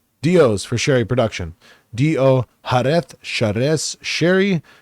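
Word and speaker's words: Jerez: j r e z looks like gz it's harth is how it's pronounced typically has a very sunny high UV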